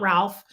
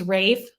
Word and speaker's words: Ralph: More because of his accent, but Ray, it's pronounced right, Rafe, right? Because where he's from, it's not Ralph, it's Rafe Fiennes.